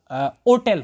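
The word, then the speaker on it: hotel: जब हम अमेरिकन वाला प्रोनाउंसिएशन लिखेंगे तो अमेरिकन वाले तो इसका क्या निकल के लाएंगे, तो ये अमेरिकन प्रोनाउंसिएशन इसका ओटेल होगा, ओटेल अलिफ वाव ओटेल, तो फिर अमेरिकन वाले इसके साथ एन का इस्तेमाल करते हैं।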